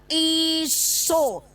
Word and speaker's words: Esau: Ditulisnya begini, bacanya huruf E dibaca apa teman-teman kalau di barat? I. Ini bacanya I. Lalu yang huruf ganda atau diftong dalam kaidah bahasa Latin itu dibaca O.